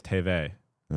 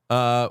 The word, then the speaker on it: TVA: Someone just said TVA is TV. All right. TVA. Oh, because it's French. TVA. TVA. It's the French alphabet. Okay, makes sense. Yeah. TVA.